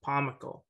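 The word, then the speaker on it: Pomykal: It's similar to comical. So Pomykil. All right. I say Pomykil.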